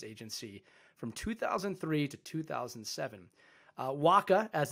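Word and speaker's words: WHCA: waka as it's pronounced provides voice video and data communication services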